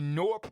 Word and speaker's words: Gnorp: We're talking about specifically the Norp Appalog. The NORP Appalog is spelled G N O R P, right?